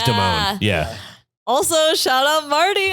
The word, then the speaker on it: Damon: yeah and she said she pronounced her last name is it's Kia Deone Deone I think it was Deone yeah also shout out